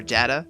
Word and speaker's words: data: passionate disagreement over pronunciation the next closest word is probably data or data with a long a or a short a but that isn't nearly